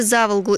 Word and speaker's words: Заволга: многие коренные самарцы полюбили за волгу именно так с ударением на первый слог и в одно слово называют все то что